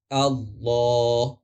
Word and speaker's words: اللہ: تلفظ کیسے ہوتا ہے۔ اگر اللہ سے پہلے زبر، پیش یا سکون ہو تو ہم اسے مکمل طور پر موٹا ادا کریں گے، جیسا کہ ان اللہ